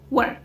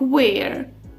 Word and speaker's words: were: А якщо це you, we, they, тоді це буде форма were. Зверніть увагу, вона ніколи не читається як where. Де вона читається? Were?